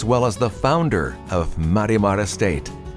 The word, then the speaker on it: Marimar: as the founder of Marimar Estate. That's my attempt at the Spanish pronunciation, but it can be anglicized as Marimar Estate.